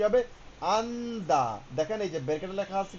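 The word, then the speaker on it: 앉다: লিখছে আন জিয়ত দা এখানে জিও হবে না প্রথমটা আমরা ধরবো তাহলে কি হবে? আন্দা দেখেন এইযে ব্রকেটে লেখা আছে কি? আন্দা আন্দা মানে বসা। আপনি বসুন। আঞ্জুস আঞ্জায় যেটাই হোক আন্দা।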